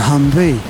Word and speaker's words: Humvee: just shortened it to Humvee yeah well that makes sense because you know H M or hum are you like yeah you've reduced it by one syllable and likewise and then